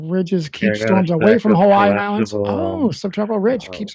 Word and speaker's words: Hawaii: Typically subtropical ridges keep storms away from Hawaiian islands. Oh, subtropical ridge keeps them away. I'm heading your way apart just pulled up. Okay. 10. Remember the I is pronounced as in E in Hawaii level is oh